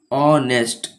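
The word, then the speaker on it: honest: क्योंकि यहां पे स्वर वर्ण से शुरू हो रहा है इसका प्रोनाउंसिएशन। ऑनेस्ट अ से शुरू हो रहा है।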